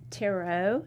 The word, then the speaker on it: tarot: it tara tara yeah people get kind of funny about how you say um taro no i don't say tear it and people really make fun of that but it's taro t-a-r-o-t somebody's tried to tell